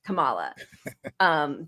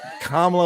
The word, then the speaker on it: Kamala: He refuses to say her name right, Kamala, just to show disrespect.